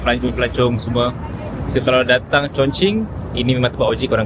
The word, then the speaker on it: Chongqing: Dia Chongqing lah.